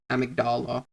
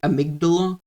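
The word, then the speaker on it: amygdala: be able to see the amigdala that was um or the amigdala depending how people want to uh pronounce it uh that was like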